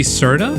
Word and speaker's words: Serta: made it an S here's the true pronunciation with a r r i can't roll my arms also I just kind